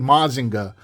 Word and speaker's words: Mazinger: However, all 3 of them are the representation of the same character, the Great Mazinger, or as it would be pronounced in Japan, the Great Mazinga.